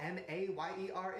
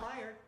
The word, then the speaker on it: Mayer: You know what M-A-Y-E-R is? John Mayer. That's how you say it. Mayer. Not Meyer.